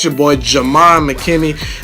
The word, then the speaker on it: Ghiman: It's your boy, Ghiman Mckinney. Ghiman is how you say and spell my name.